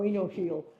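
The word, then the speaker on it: oenophile: I've never been able to pronounce enophile. How do you say that? Thank you. Oh, enophile.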